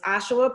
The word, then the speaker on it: Ajuah: My name is Ajuah, pronounced like Joshua without the J.